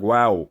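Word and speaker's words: واو: The wow is like wow.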